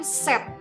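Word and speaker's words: sept: nah kemudian angka 7 angka tujuh itu tulisannya Kanada es ke p t ya tetapi huruf P tidak kita bunyikan disini jadi kita lafalkan dengan set yo yah Sheep MP3 dibunyikan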